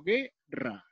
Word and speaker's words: guerra: Cuando yo me pronuncio la sílaba, digo guerra. ¿Sonó la U? No sonó, ¿verdad?